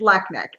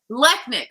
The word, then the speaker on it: Lechnick: Okay, so I want to introduce you guys to my special guest, relationship coach, Lechnick. Is that how you pronounce it? You almost have it. It's Lechnick. Lechnick.